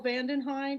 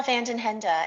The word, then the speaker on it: Van den Henda: if you know vandenhein is that pronounced correctly it's actually van den henda hey ruthie thanks for